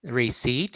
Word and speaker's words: receipt: time circling our receipt receipt okay so no per letter no p letter is pronounced uh rhyme right i